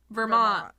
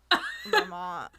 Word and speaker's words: Vermont: two three say it Vermont Vermont Vermont you don't pronounce the T you don't pronounce the T it's like a rest at the end Vermont how do you